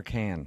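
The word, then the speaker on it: Cannes: But the pronunciation, is it con or can?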